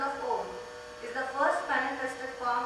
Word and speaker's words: Om: Om can be pronounced or chanted in many different ways. We will see one of them. It can be chanted either as Om or Uma.